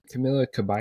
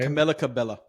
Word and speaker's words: Camila Cabello: Camila Cabello. Camilla Cabello.